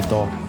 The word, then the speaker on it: Doh: In other places, the Marmas play Doh, pronounced Do in other regions.